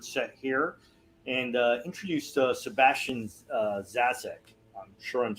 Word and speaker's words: Zaczek: It's pronounced Zaczek. It's Polish thing. The Z is pronounced ch.